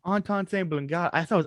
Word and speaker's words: Antón Chamberlin: Today I'm sitting down with the Bowtie Catholic, who I forgot to ask how to pronounce his name. Antón Chamberlin. Antón Chamberlin. God, I thought it was Anton.